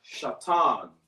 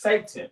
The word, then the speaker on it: Shatan: So the word is Shatan. Let me write this down here, son. We already got that. So, S-H-A. Shatan. All right. Shatan is spelled S-H-A-T-A-N. Shatan. In the English, it's pronounced Satan or Satan.